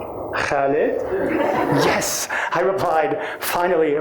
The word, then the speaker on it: Khaled: He took a hard look at my name and said, "Khaled?" "Yes," I replied, finally a proper pronunciation, until he said, "Khaled?"